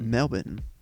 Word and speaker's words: Melbourne: Melbin. That's how the locals pronounce it.